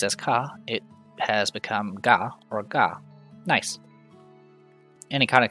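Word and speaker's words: ガ: you add duct tape this is ga or ga you pronounce this as ga like in the word garden write car as normal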